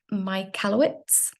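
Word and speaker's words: Michalowicz: first by now let me just get this pronunciation right it's Mike my kalowitz um and basically his whole theory about profit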